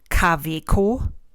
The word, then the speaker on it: Kaweco: Then the other two that I have are Kaweco and Jowo. And what happens here is that the German W is not pronounced like an English W. It's a harder sound. It's more like the English V sound.